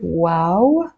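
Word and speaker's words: و: and finally we have the letter wow the name of the letter is wow and the sound is W as in window or o as in Boots so it's a big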